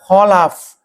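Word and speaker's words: خَلَفٌ: Kalau Bapak bacanya sukun khalfun itu artinya alladzi yakhlufu salafahu bisyarri yang menggantikan pendahulunya dengan keburukan. Jadi bisa diartikan kalau dibacanya fatah khalaf artinya generasi yang baik lawan dari kata salaf. Kalau dibacanya khalfun artinya generasi yang buruk, penerus yang buruk, penerus yang rusak.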